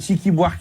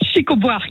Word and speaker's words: Chico Buarque: Chiqui Buarque là. Comment ça s'appelle? Chico Buarque. Chico Buarque. Attends, comment ça s'écrit?